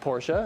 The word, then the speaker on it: Porsche: pronunciation please it's porsche well so if you imagine like in the german language danka right there's an e at the end porsha there's an e at the end and you basically pronounce all the letters and in the name porsche and then of course